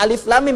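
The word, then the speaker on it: الم: “Alam nashrah laka shadrak,” “Alam tara kaifa fa’ala rabbuka bi-ashabil fil.” Ada perbedaan dalam cara membacanya. Yang pertama adalah "alif lam mim," yang kedua adalah "alam."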